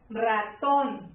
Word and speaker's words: ratón: Ra-ton. ¿Cuál es la sílaba tónica? Esta es mi sílaba tónica, ¿sí? Ratón lleva acento en la O, ton.